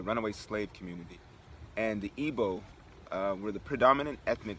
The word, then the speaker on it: Igbo: ethnic group known as the ebola okay igbo it's spelled igbo all right so now